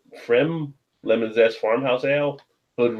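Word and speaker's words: Pfriem: And then you got, I think the P is silent. Frem Lemon Zest Farmhouse Ale, Hood River, Oregon.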